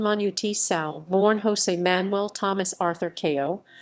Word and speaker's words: Manu Chao: Manu Chao, Galician pronunciation Manu Chao, born José-Manuel Thomas Arthur Chao, 21 June 1961, is a French-Spanish singer.